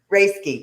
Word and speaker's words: Rayski: Am I pronouncing it? Rayski. Rayski. Okay. See, it's so once you say it, it looks so easy, right?